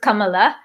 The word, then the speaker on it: Kamala: Kamala Harris Kamala Harris properly pronounce it Kamala Kamala means lotus in many Indian languages um uh and uh